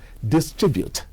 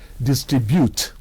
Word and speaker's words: distribute: a word such as distribute has a stress on the second syllable thus from the english